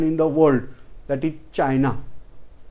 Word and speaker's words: China: Then it is obviously our neighbor and very, very ancient nation in the world, that is China. We are wrongly pronouncing as China. The pronunciation is Chin.